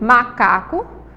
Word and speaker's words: macaco: A gente vai ver aí que a sílaba tônica de macaco, macaco, é uma sílaba paroxítona, que vai vir aí, ó, a segunda, macaco. É a segunda sílaba, certo?